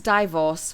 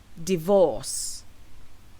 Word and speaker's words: divorce: preure pressure now let's talk about this word d i v o r c e so how do you pronounce this word which refers to legally ending